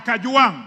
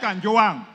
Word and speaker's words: Kajwang': Mr Speaker first of all first of all pronounce my name properly I'm not a CH I am Kang not Kang number two Mr Speaker this is a problem